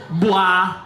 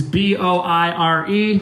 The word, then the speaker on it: boire: Number 6, 5-letter word for the French term for drink is boire, which is B-O-I-R-E. Boire. I think I'm pronouncing it perfectly in French.